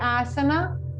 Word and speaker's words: asana: call in sanskrit so many times in the sanskrit we are not pronouncing the last a so for example when we say yog it means yoga yog when we say asana we say asan we say pranayama pratyahar so